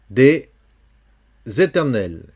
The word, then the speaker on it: des éternels: Ici, on a le même cas qu'antérieurement, c'est-à-dire ici, il faut prononcer le S comme si c'était un Z avec éternel. On enlève le S et on met à sa place un Z.